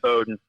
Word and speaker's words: Bowdoin: saying that word wrong beaudoin is that is that how you say it it's boat yeah bowdoin so what do you